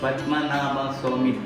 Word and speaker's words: Padmanabhaswamy: Padmanabhaswamy Temple.